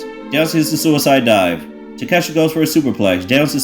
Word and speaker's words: Takeshita: Oh, by the way, MJF mispronounced this man's name, by the way. I forgot to mention. He said, take a shitta?